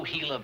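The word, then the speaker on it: Gila: valley and solid it why didn't you tell me it was spelled with a g g i l a hila everybody knows that is Spanish you know what y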